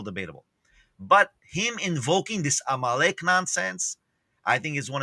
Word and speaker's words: Amalek: Amalek.